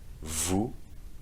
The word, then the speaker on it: vous: Vu, you don't pronounce the the s at the end either.